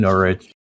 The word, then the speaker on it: Norwich: I can make him pronounce Innsmouth. What are you talking about? And Norwich.